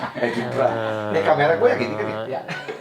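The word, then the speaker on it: Edinburgh: ya katanya gaya banget Eden bacanya Eden Bra bukan Ed bukan Edinbra ini kamera gua yang gini Iya.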